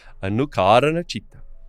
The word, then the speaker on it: Anukaranachita: E é assim que se pronuncia em sânscrito. Anukaranachita.